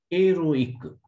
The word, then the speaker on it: héroïque: Héroïque. Here, this I will be separated.